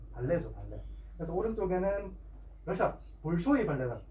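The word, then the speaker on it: Большой: 그래서 오른쪽에는 러시아 볼쇼이 발레단. 근데 정확히 발음하면 발쇼이 발레단이거든요. 볼쇼이 발레단이랑 또 마린스키 발레단도 굉장히 유명합니다.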